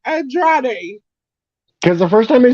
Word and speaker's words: Andrade: she said it. Andrade El Idolo. And he was like, Andre El Idolo.